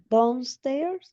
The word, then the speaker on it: downstairs: downstairs and have Aunque veas breakfast. aquí una O, Marieli, se pronuncia como A.